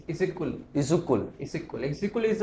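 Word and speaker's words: Issyk-Kul: सो exactly उसको क्या pronounce करते हैं उसको प्रोनाउंस करते हैं इजिकुल इजुकल इजिकुल इजिकुल इज अ एक बहुत बड़ी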